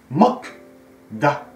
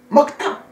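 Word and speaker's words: 먹다: Mok-da. Mais lorsqu'on le prononce, mokta.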